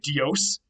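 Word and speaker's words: Διός: to say Zeus's thunderbolt, you would actually say Dios. You would not say Zeus, you would say Deuse, and the D is still there, and it's spelled with a delta there in Greek.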